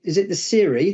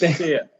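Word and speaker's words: SERE: So I was going to say, so you wrote the Siri, the survival manual? It rhymes with beer leaves. It's Sear.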